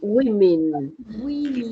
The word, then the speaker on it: women: That's the pronunciation. Women. Okay? Not we, but women. In English, there are 2 E's. This is the short E. That is more like an A. Women. Okay? Women. Not we, women.